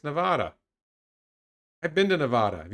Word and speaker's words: Nevada: How am I pronouncing Nevada wrong? It's Nevada.